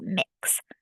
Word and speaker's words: Mx: everyone and they used MX period pronounced mix so you might see